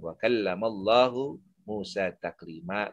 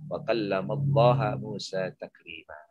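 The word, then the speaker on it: وَكَلَّمَ اللَّهُ مُوسَىٰ تَكْلِيمًا: Wa kallamallahu Musa taklima. Tapi ahli bid'ah membacanya wa kallamallaha Musa taklima. Kedua, jadi yang pertama tadi,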